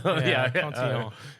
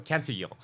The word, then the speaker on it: Cantillon: I can never pronounce his name properly because he's like Irish French. So is it Cantillon or Cantillon? Cantillon. Yeah. You're the French dude. So Cantillon.